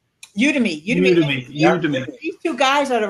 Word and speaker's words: Udemy: Is it pronounced Udemy or Udemy? Udemy.